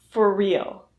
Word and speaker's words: for real: So let's practice pronouncing for real. For real reduces so that the R sound in for and the R sound in real combine into one R sound.